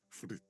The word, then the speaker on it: Fritte: Raincoats are transparent, except for the big Fritte slogan on the back. Yo, I pronounced fritte correctly.